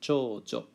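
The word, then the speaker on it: 長女: Be careful of the pronunciation here. It's a long u on cho-u, but not on jo. So it's pronounced chojo, and that's reserved for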